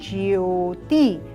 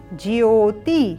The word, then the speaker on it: ज्योति: य अब यहां पर हम मिस्टेक क्या करते हैं इसको ज्योति इस प्रकार से बोलते हैं परंतु ये विशुद्ध नहीं है क्यों क्योंकि यहां पर ज के साथ यो संयुक्त है इसलिए उच्चारण होगा ज्योति क्या उच्चारण होगा सभी